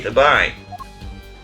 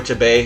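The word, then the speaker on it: Tobaye: The body, guitar in hand, and the pianist, Machi Tabai. Or Tabai, however you're supposed to pronounce it. I think it's actually supposed to be Tabai.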